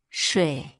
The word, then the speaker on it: 水: Its pronunciation is sh means water.